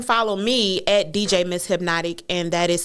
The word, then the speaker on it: Hypnotique: So you can follow me at DJ Miss Hypnotic, and that is spelled DJMSHYPNOTIQUE. Yes, it sounds like the liquor, but it's two different things.